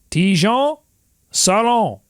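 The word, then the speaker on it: Tidjane Salaün: How are you pronouncing it? Tijan Salon? Tijan Salon.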